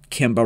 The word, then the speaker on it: Kimba: pretty damn similar and while Kimba rhymes with Simba you must avenge my